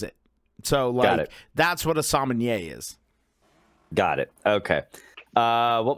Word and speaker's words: sommelier: Minimal involvement from the Sommelier, as Poot told me how to pronounce it tonight. Sommelier. WWE, get your shit together. It's not salmonella or whatever the fuck ever you say. It's sommelier.